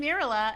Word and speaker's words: Mirele: Yeah, but in the song, I call myself because it rhymes better. Hi, everybody. I'm Mirele, and I'm also a librarian, and I also like to read books.